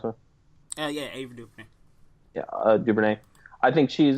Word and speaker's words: Ava DuVernay: But I think I didn't love Selma, but I think Ava DuVernay, is that how you pronounce her? Yeah, Ava DuVernay.